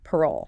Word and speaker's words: parole: Then parole pronounced parole.